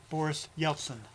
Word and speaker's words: Boris Yeltsin: And he was one time a bodyguard for the Russian president Boris Yeltsin. Et il était autrefois un garde du corps du président russe qu'il a nommé, how do you pronounce that? Boris Yeltsin.